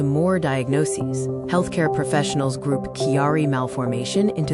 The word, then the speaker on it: Chiari: Chiari Malformation, pronounced Chiari Malformation, is a condition where brain tissue extends into the spinal canal.